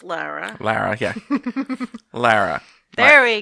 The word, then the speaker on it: Lara: Good, and it's pronounced Lara.